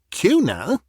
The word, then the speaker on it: Cuénin: It seems Lady Gwyn recristened her coun because she said the English pronunciation of Kuna grated on her ear. People would insist upon adding a G after the N.